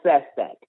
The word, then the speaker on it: Sestak: out to us his name is Joe Joe Sestak SES tak I suggest everyone goes to his